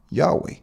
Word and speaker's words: Yahweh: is Right ladies representing the biblical pronunciation of y h w h which is pronounced Yahweh the Hebrew name revealed